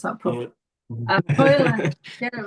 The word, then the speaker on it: Højlund: I can't pronounce that properly. Højlund, get it right, Hazel.